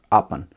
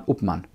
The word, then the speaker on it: Upmann: hermann and uh august so if you pronounce it in english it's hermann august appen in german hermann upman so they founded a